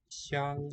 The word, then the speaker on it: 香: 纽纽香 Xiang, that occurs in the name of Hong Kong. First syllable.